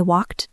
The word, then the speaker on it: walked: I walked to the store. Oh, regular verbs in the past tense. Walked. It is spelled e d, but it sounds like a t sound at the end.